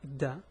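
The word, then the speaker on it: د: It's a da, it's like a D. So it's a da, do, di, the three pronunciations.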